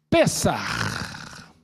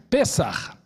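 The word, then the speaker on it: פסח: A palavra hebraica para Páscoa é pessar. Se pronuncia assim, ó, pessar.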